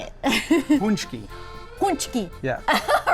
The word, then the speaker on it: Pączki: Minooka Pastry to learn how to make and pronounce these delicious Polish pre-Lenten treats. Well, Bob, how do you say it? Pączki.